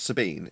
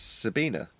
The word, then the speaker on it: Sabine: people self reference so it's not Sabine it's Sabina okay we've been saying